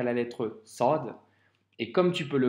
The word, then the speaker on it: ص: Pour la prononciation, ça se prononce avec emphase. Ça signifie que la lettre c'est une grosse lettre, entre guillemets, c'est comme un grand S. Et quand tu la prononces, le son doit remplir toute la bouche. Et donc ça nous donne le son sod. Tu vois, c'est pas c'est so, un gros son.